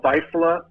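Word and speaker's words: Vaisala: How do you pronounce that? Yeah, typically the National Lightning Detection Network is a company called Visalia.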